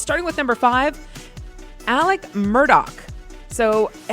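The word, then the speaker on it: Alex Murdaugh: Okay, it's starting with number five, Alec Murdoch. So, everyone thinks it's Alex Murdoch, but it's he's in South Carolina. Uh, he's the guy who murdered his wife and son.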